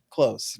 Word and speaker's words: Clowes: Clowes is how you pronounce his name? Daniel Clowes? Clowes, right.